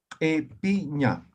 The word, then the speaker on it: ipiña: Epiña. Ah, sí, cumple, ¿no ven? Ahí está. Entonces, esta I, al momento de pronunciar, lo vamos a hacer como si fuera vocal E. Entonces, la pronunciación, E-pi-ña.